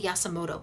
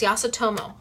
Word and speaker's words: Yasutomo: I always say it wrong. Yasutomo. Yes, I always want to say Yasumoto, but it's not. It's Yasutomo.